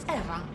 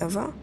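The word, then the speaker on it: Ewa: Did you say your name was Eva? Yes, that's right. So you have the same name as that thing? Could you please not compare me to a lifeless machine? Besides, Eva is spelled E-W-A, not E-V-E.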